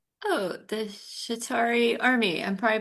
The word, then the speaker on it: Chitauri: Oh, the Chitauri army. I'm probably pronouncing that wrong. Chitauri. Chitauri. All right. All right. Is correct. Number one. Chitauri.